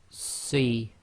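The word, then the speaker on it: صِ: Sad with the kasra, this one will have a proper full mouth. So we'll pronounce this as Si, Si. So you're making a full mouth, i.e. your mouth is almost round. Your lips are just about making a round circle.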